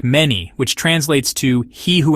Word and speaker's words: Menes: In the ancient Egyptian language, the name was likely pronounced something like many, which translates to he who endures or the one who establishes.